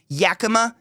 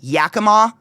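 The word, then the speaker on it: Yakima: And then like within the first chapter, the narrator says Yaka instead of Yakama, the city of Yaka.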